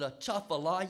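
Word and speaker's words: Atchafalaya: I know how you say that is it a chaala yes the thank you the I should know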